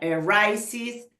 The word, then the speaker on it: arises: o con X o con SH, ahí se pronuncia arises, finishes.